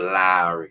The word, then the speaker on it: Lowry: You got to draw that out, Lowry.